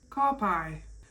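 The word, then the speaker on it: ka pai: easy way to pronounce it would be is car and pie. Car pie.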